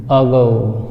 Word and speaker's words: ago: इसको देखने के बाद हम जान गए हैं कि ये एगो नहीं, अगो।